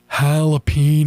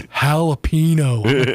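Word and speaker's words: jalapeño: to correct Ricky on how to say the word jalapo. I'm like that's not even right. It's jalapeno. No, it's not. See that little thing over the end?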